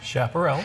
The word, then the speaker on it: Chaparrals: We have got some, and help me pronounce it again. Chaparrals.